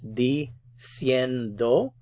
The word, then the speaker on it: diciendo: So it's diciendo. So do is the last syllable. Cien, we want to keep it on this syllable. We want to keep the stress there.